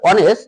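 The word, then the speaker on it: honest: যেমন হরস এখানে এইচ উচ্চারণ হয়েছে হারস এইচ উচ্চারণ হয়েছে যেমন আর অনেস এখানে আমার এইচ উচ্চারিত হয় নাই যেমন আওয়ার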